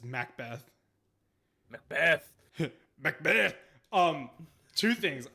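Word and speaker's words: Macbeth: It's not Mc Beth, it's Mac Beth.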